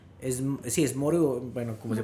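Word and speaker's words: Moreau: lo mencioné, la de la isla del Doctor Maru. Sí, es Moru, bueno, como se pronuncia, Okay.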